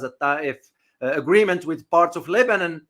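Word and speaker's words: الطائف: The Taif, pronounced in Arabic as a Taif, agreement with parts of Lebanon left in ruins.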